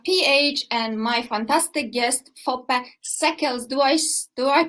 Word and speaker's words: Foppe Seekles: PH, and my fantastic guest, Foppe Seekles. Do I pronounce it correctly? Foppe Seekles.